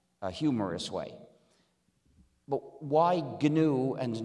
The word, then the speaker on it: GNU: But when it's the name of our system, please pronounce it with a hard G. Pronounce it GNU.